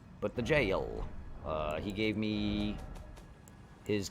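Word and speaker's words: Gaol: though it's a g I will continue to pronounce it Gail but the jail uh he gave me his key for it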